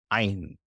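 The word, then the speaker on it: Ayin: another one that stops this letter is silent it's as a silent letter so we have two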